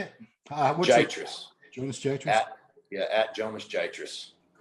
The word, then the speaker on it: Giatras: Giatras.